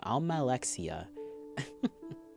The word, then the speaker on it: Almalexia: Almalexia.